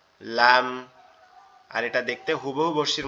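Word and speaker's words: لام: জিহ্বার আগা উপরের তালুর সঙ্গে লাগবে, লেগে উচ্চারিত হবে লাম। লাম লাম।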